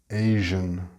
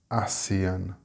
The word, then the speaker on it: Asian: Just a note on the word Asian. Notice how I pronounce it. It is not pronounced ASEAN, and the continent is Asia and not Asia, Malaysia, Indonesia, etc.